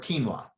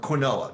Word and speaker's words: quinoa: Gluten is not found in rice, millet, corn, or quinoa, or quinoa, depends on which emphasis you want to put the syllable.